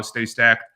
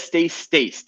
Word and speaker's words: Stay Stacked: Is that how you say it? Stay Stacked? Yes. I always read it as Stay Staced, and I never understood Yeah. So it, okay, you and everyone else is the proper way to read it.